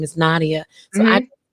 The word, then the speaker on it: Na'Diah: saying your name wrong? It's Nadia. Nadia.